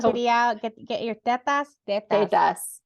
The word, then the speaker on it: tetas: Tetas. You have to say it like the Spanish say it.